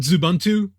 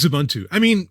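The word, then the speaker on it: Xubuntu: I always wondered, and I've always pronounced it Zubuntu, but yeah, we'll go with Zubuntu.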